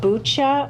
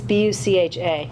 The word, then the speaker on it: Bucha: Okay, so here's, so I think it's pronounced, is it Bucha or Bucha? The town in the Ukraine? It's B-U-C-H-A. Well, it's that. They can say Bucha. Bucha, yeah, okay.